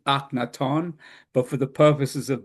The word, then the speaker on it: Akhenaten: Uh, Now I'm going to give you the usual pronunciation of his name, which is not really the correct pronunciation, but he was no has been known as Akhenaten. The Egyptian, the original Egyptian name is Akhenaton, but for the purposes